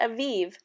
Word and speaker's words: Abib: At the approach of spring, the barley fields carefully planted months before would be constantly checked to see if they were Abib, pronounced Aviv.